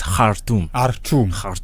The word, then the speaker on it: Khartoum: And Khartoum, by the way, I was told it's Khartoum. It depends on where you come from. If you are an Arab, you'll say Khartoum, right?